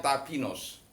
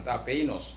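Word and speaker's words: ταπεινός: Tapenos itu kalau dibacanya tapinos. Kalau eta ketemu iota, maka dibaca i. Jadi tapinos, bukan tapeinos, tapinos.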